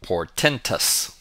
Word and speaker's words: portentous: Our fifth word is pronounced portentous.